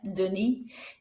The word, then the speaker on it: Denis: I meant Denis, don't pronounce the S.